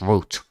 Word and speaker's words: route: Whatever you say, also it's root. That's the pronunciation's right.